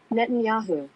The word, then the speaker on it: Netanyahu: ni nahu speak now how do you say this Netanyahu Netanyahu net say it one more time Netanyahu Netanyahu okay so like Yahoo anyway Netanyahu so because